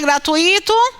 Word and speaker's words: gratuito: costumam errar na pronúncia as pessoas elas pronunciam gratuito a palavra é gratuito não há palavra é